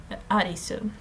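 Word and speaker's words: Arisu: it's the closest name the closest way that if i'm not mistaken the japanese language can go to alice because they do not do that well with the else they do not pronounce it that well so arizu yes um our protagonist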